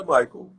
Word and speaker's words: Michael: Mas a pronúncia certa é Michael.